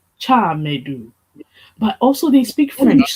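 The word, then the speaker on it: Tchamadeu: Chamadou. then, Okay. yeah. And the last name starting with a C H sound, followed by ma- dew. Chamadou.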